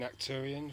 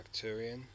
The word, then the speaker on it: Arcturian: Arcturian or Arcturian. Keep forgetting to pronounce the R.